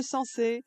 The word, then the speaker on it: Sanxay: Parfait parce qu'on dit sans depuis le début de cette émission mais effectivement ça s'écrit s a n x a. Merci beaucoup Martin Durquetti, responsable opérationnel de ce site galoromain de sensé.